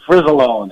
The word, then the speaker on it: Fricilone: Actually, Fricilone, as usually I say it with a Z, Ken a Z.